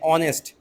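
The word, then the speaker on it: honest: ऑनेस्ट मतलब ओ एन ई एस टी एच। यहां पे क्या होता है? एच जो होता है आपका साइलेंट होता है।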